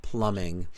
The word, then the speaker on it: plumbing: spellings for it but we never pronounce the b it's just Plumbing there's no B it's